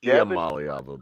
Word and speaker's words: Iamaleava: That guy couldn't say Iamaleava to save his life. It's Iamaleava, by the way.